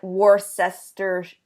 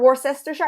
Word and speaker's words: Worcestershire: That's the one with the name that's nobody can pronounce. Yeah, like for us, it looks like Worcestershire or Worcestershire, and I don't think any Americans know how to pronounce it. We're just like that Worcestershire sauce.